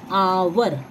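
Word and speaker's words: hour: अब जैसे आवर, तो आवर में किसकी आवाज आई, आवर, इस वाले हिस्से की आवाज आई, एच की आवाज साइलेंट है, नहीं आ रही है, तो हम क्या लिखेंगे, एन लिखेंगे।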